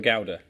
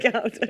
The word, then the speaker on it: Gouda: Now, how do you say the cheese Gouda? You Gouda or a Gouda? Anyone? I think I'm a Gouda. I'm a Gouda, yeah. I just wanted to check I wasn't going to sound I'm a like Gouda.